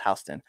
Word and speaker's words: Houston: hon Delaware okay it's spelled Houston but it's pronounced hon that's also a street in New York that's